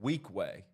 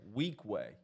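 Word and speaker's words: Weequahic: Mountain Lakes is playing weak way that's how you pronounce it okay so do not try to pronounce it anyway weak way weak way don't spell it out don't read it don't look at it weak way let's take a quick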